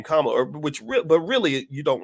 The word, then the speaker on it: Kamala: you're a racist because you don't want to pronounce it Kamala instead of Kamala.